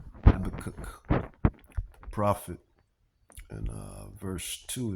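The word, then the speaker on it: Habakkuk: And this is why uh Yahawah Bahashim Yahawashi Yahawah he he you know he warned us through prophet Habak Habak Habak or Habak pronounce it Habacook prophet and uh verse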